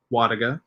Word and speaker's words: Wlodyga: my name is wadiga it's polish the l is silent all that stuff um